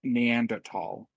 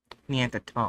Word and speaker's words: Neanderthal: It's pronounced Neanderthal. Neanderthal.